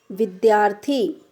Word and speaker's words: विद्यार्थी: अब लास्ट में देखते हैं, आधा दा और या का उच्चारण आधा दा और या के रूप में होता है।